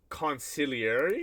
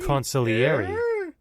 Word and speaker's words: consigliere: How do you pronounce this? Hold on. Consigliere. Conciliary? Consigliere.